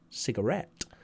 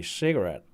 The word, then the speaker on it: cigarette: to be that the british words are pronounced more with continental european stress like cigarette with the french stress on et cigarette whereas americans will say cigarette cigarette with the product